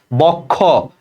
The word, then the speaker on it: বক্ষ: যেমন দেখো বক্ষ, এই যে লেখো যুক্ত, যুক্ত খ, তাহলে যুক্ত ব্যঞ্জনের সাথে একটা অ আছে, বক্ষ শব্দের শেষে, এটা ওর মতো উচ্চারণ হবে, যে বক্ষ, এই যে খো ওকার।